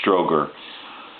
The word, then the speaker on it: Strowger: that you see here the guys name is spelled STR o WG er Stroger and so basically that's